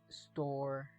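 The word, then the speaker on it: storge: called ST which means familial affection sto is pronounced store it is one of the four classical Greek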